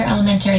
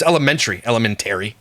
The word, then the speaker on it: elementary: Jordan goes to a different school than my other elementary kids because... Stop saying elementary. That's not how it's said. Elementary. Put the emphasis on the wrong syllable. It's elementary. Stop it.